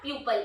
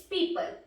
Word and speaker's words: people: No, it's not pupil, it's people.